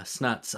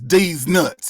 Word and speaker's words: Deez Nuts: tell you something man when you say my name you say it right it's deez nuts you understand league all